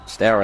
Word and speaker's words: Stour: The offensive end, the combination between Stour, I've been told, someone just told me it's pronounced as in Stour as in power. Right. I've called it Stour all season.